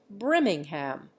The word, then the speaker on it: Birmingham: with various English surnames Birmingham for example is pronounced brimming ham in Ireland end footnote end of chapter